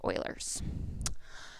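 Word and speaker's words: Euler: to say ERS but his name is properly pronounced Oilers the number of faces vertices and edges of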